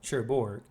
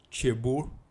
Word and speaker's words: Cherbourg: Yeah, I think the G is silent. Cherbourg.